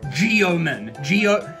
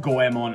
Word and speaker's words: Goemon: Although, as a child, I didn't know how to pronounce Japanese, so I called it Geomon. Geomon, even though it's pronounced Goemon and it's spelled Goemon.